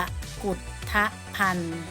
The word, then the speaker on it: กกุธภัณฑ์: คือ ราษฎร์ บำรุง มี คำ นี้ อ่าน ว่า กะ กุธภัณฑ์ กับ อุด ทะทะ พัน